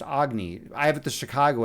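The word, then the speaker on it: Agni: It's actually pronounced Agny. I have it the Chicago accent, so I call it Agny, but it's actually pronounced Agny or Ugan.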